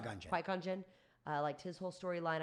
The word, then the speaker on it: Qui-Gon Jinn: How do you pronounce Qui-Gon Jinn. Qui-Gon Jinn.